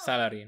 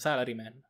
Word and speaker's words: Salaryman: Beccati questa, Salaryman! Salary? Non l'accento è sbagliato. Salaryman. Non Salary, Salary.